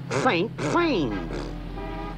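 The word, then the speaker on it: Saint-Saëns: Pronounced Saint-Saens. The man's name is Camille Saint-Saens.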